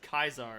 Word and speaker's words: Caesar: Legion will be like it's pronounced Kaiser and you're like I'm